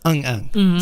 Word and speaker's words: 응응: So it means like yes or and it's pronounced Eung Eung.